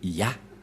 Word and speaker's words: Yah: La prononciation de ce terme est ceci, c'est Ya.